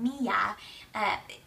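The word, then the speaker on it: μία: a certain day is a word called Mia it pronounced m-e-a that it's spelled m-i-a and the meaning only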